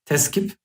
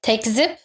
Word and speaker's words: tekzip: to write a correction, teskip is the Turkish word, you put it to the 5th page on the bottom. Isn't it tekzip? Tekzip, yes, I said it wrong.